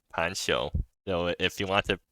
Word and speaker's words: Panxiou: scroll fan responded so it's supposed to be pronounced pensho probably or Pancho right yeah so anyways the set is pronounced Pancho so if you want